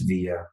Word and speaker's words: Villa: It's Villa, pronounced Villa. Boom. Because I'm Mexican.